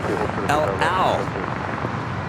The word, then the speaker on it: El Al: By the way, the airline name is pronounced El Al, like El Torito.